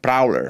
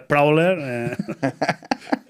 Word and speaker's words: Prowler: software libre llamado Prowler, que no se dice Prowler, que es que me da miedo pronunciarlo, es mi murciano. Sí. Bueno, no es Prowler. Es Prowler, Carolina Herrera.